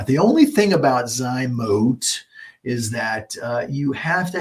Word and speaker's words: Zymot: Some call it Zymote. I think Zymote is technically the correct pronunciation, but we're lazy around here, so it's easier for us to say Zymot.